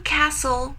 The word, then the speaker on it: castle: queen would leave in Castle which is the silent letter we have the silent letter T so don't pronounce t when you say castle okay all right number